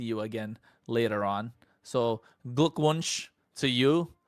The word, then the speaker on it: Glückwunsch: So, Glückwunsch to you, right? Did I say it right? Did I say it Yeah, right? you did.